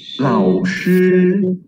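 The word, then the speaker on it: 老师: Laoshi. Laoshi. Okay. Macam mana pronounce?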